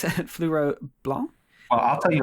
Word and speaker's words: Fleuret Blanc: But Fleuret Blanc is how I do it.